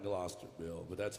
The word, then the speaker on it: Gloucester: It's not spelled like Gloucester, Bill, but that's how you pronounce it.